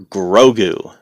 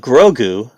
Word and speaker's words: Grogu: i like that but grogu if you really think about it phonetically it's a lot like yoda you know you've got two syllables very simple very short and yeah the more